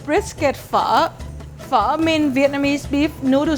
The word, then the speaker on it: pho: This is called brisket pho.